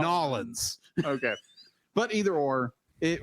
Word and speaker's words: New Orleans: It's actually, I know it looks like it's spelled New space Orleans. New Orleans. But in reality, it's spelled apostrophe Nawlins. Nolans.